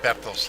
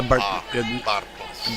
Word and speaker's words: Bartels: And now the pitcher, Bartels. bottles. Bertel. Bartels, yeah. Yeah, you said Bartels, and we pronounce it as an I said the Bartels.